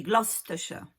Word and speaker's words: Gloucestershire: Et tout ça, ça s'écrit avec Cester à la fin. Hein, mais on dit Ster, Bicester, Leicester, Gloucestershire.